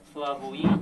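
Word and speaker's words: Slavoj: 이름이 슬라보의 지젝 이렇게 소개되어 있지만 슬라보이 이름 앞에 꼭 이렇게 표시를 해요. 그래서 요거는 영어로 발음상으로 이게 JH에 가깝습니다.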